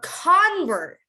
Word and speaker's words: convert: you repeat after me so a convert if it's a noun it's a convert but if it's a verb you would say to convert to convert to convert